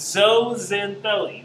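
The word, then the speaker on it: zooxanthellae: is but you don't prance at zoo it's so Zen belly that's why we pronounce this particular term it is a type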